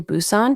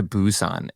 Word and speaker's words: Busan: just watched um recently was the train to Busan did you see that one the train to Busan no is it pronunciation of the name but b u s